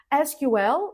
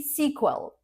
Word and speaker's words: SQL: SQL, like FBI, SQL, or a movie sequel.